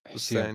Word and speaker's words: Hussein: I mean, I've been I think Husan has been uh or I don't know how do you say his your name. I'm sorry. Uh is it Hussein? Hussein. Yeah, exactly.